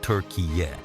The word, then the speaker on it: Türkiye: In 2022, Turkey officially asked the United Nations and FIFA to stop calling them Turkey and start using Türkiye, pronounced Turkey-yay.